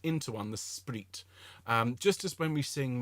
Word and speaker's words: spreet: We sing in the spreet. Okay, S-P-R-E-E-T.